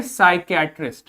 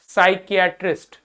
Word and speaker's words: psychiatrist: इसको क्या पढ़ेंगे, पिसाई पेसाइकियाट्रिस्ट नहीं, यहां पर इस पी का कोई प्रोनाउंसिएशन नहीं है, इसको कुछ नहीं बोलेंगे, सिंपली बोलोगे साइकियाट्रिस्ट। क्या बोलोगे, साइकियाट्रिस्ट।